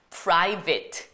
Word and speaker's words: private: 어쨌든 이거 발음 어떻게 하냐면 private, vit. 그냥 이거 퉁쳐서 그냥 vit 하시면 돼요.